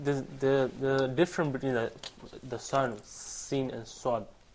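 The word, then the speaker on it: سين: And as it says here in the slides, Seen pronounced like seen, the word seen in English.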